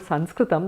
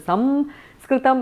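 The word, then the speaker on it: संस्कृतम्: In the south it is Samskritam, in the north it is Sanskritam, a dental one. In Maharashtra and all is Sanskritam, it's somewhere in between different anunasikas, and in Bengal you've got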